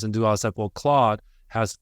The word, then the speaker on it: Claude: Claude, like the name.